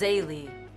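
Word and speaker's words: Zélie: 2 on audio, and it's Zayli, by the way, that's how it's pronounced.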